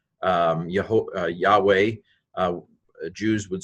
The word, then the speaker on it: Yahweh: God YHVH yhw H sometimes it's been said Jehovah but that's not quite right yo ho Yahweh Jews would say ah